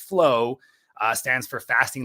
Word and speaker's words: FLOA: So FLOA, pronounced flow, stands for fasting like our ancestors.